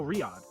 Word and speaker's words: Riyadh: I'm gonna pop it into fucking Google Translate and see if I can get the pronunciation. I think I said it right. Oh, Riyadh.